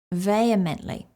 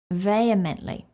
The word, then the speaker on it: vehemently: word is vehemently vehemently this is a word that's often mispronounced because it's spelled differently to how it is pronounced so let's go over the pronunciation first vehemently vehemently a side note here